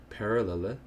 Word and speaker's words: parallelepiped: was in high school, completely butchered that because of his Slavic accent. But yeah, it's pronounced parallelepiped.